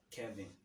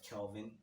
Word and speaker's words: Kelvin: know what's the word they pronounce my name wrongly by saying kevin like instead of kelvin someone would be like calvin kevin like you see